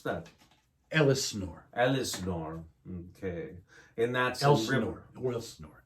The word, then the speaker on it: Elsinore: How do you pronounce that? Elsinore.